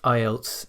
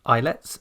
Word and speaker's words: IELTS: together to create ielts notice it is not islets and never has been eyelets so don't pronounce it like that or write it like